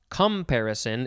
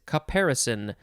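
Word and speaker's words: caparison: next we have comparison it's not comparison it is comparison uh comparison yeah uh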